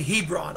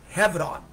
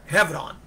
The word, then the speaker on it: Hebron: And Hebron, you know, in the West we say Hebron or Hebron, but in Israel they pronounce it Hebron, with a V as in Victor, Hebron.